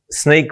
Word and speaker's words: Snyk: this company called sneak some people say how do you pronounce that and I've just said it sneak so the easiest way to to work it out is um sneakers sneak right so what it stands